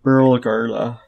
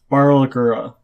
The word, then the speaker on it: Barlgura: There are 6 other Fardana here, about 10 Rodderkin, and then there's a Burlgarla. Did I pronounce that right? Barlgura.